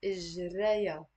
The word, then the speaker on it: إجريا: So it's three syllables. إجريا. And notice here the ha, I'm not pronouncing it. It's silent.